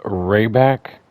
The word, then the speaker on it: Rehbach: regarder cette nouvelle carte je crois qu'elle se prononce rayback euh c'est euh on dirait l'allemand euh c'est une très jolie